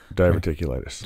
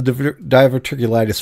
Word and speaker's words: diverticulitis: No, diverticulitis.